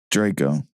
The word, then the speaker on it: Draco: Draco.